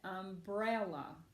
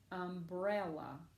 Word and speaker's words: umbrella: it all right now Paige I'm gonna say it umbrella umbrella where is that accent yes ma'am it is right here in the middle nice job Paige good